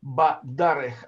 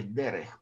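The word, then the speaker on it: בַּדָּרֶךְ: Бадарех, а не дерех. Потому что из-за ударения сегол переходит в камац.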